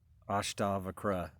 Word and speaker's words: Ashtavakra: on the ancient text, the Ashtavakra, am I saying it right? Ashtavakra Gita. I used to say it wrong, and now I'm trying to teach myself to say it right, but it doesn't come out naturally. Ashtavakra, that's it.